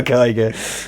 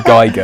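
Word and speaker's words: Giger: whatever you want, but I know that the rule is this. Thanks GCSE German, that if it's IE, you pronounce whichever the second one is. right. So yeah, if it's EI, then it would be Geiger.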